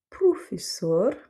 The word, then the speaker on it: professor: Par exemple, signor, favor, ou encore professor. Donc là, on aura le premier O qui se prononce OU parce que c'est en fait l'inverse